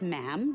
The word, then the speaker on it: ma'am: after that it's just ma'am rhymes with jim and it's always a